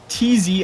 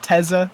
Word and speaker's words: TZ: TZ actually came to our Discord to remind us that his name is pronounced TZ and not Teza or Tease or whatever we've been saying.